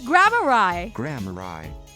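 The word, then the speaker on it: Gramarye: How to pronounce Grammari. Grammari. It's Grammari.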